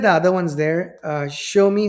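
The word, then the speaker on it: Xiaomi: And if you look at the other ones there, uh, show me, hopefully I'm pronouncing that name corre correctly. Uh, X I A O M I show me or something around there.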